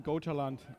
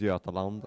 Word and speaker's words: Götaland: Sweden Gotaland, Christopher Wedding's team. Okay, the wedding team. Yeah. It's actually pronounced Götaland.